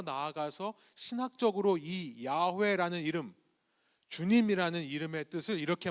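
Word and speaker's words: 야훼: 우리가 이것을 여호와라고 읽었습니다만 정확한 말은 주님 혹은 야회라는 말입니다.이 이 야회라는 이름이 주님이라는 이름이 여기서부터 나왔습니다.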